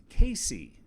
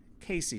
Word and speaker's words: CACI: this is a jury instruction from caci pronounced casey casey does anybody know what